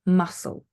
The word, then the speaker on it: muscle: one is silent c so C is not pronounced when it is at the ending of a word with SLE e for example muscle yeah your muscles in your body okay you